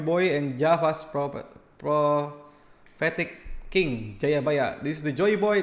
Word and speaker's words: Jayabaya: and java's prophetic king jayabaya this is the joy boy and this is jayabaya in Javanese pronounce Jayabaya collapse naturally towards Joyo Boyo or even Joyo Boy which is near Joy Boy Then he is historically